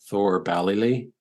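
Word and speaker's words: Thoor Ballylee: Now, Yeats had an estate or a house nearby, Thor Ballylee. Did I pronounce that right?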